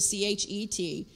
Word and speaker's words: Chet: So don't get stuck on that if you're used to just spelling it C-H-E-T. They pronounce that chet.